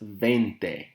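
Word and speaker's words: veinte: as you look at 20 20 in spanish is pronounced as vente vente means 20. if you go to starbucks and you get a venti beverage a venti is 20 ounces and vinty is italian for for 20.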